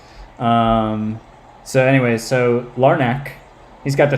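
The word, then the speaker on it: Larnach: All right, so now here's Larnack. That's what we're going with. It's a hard C. Is that what we're going with here? I'll have to try to break my habit of saying it like a C. You know, the ch sound.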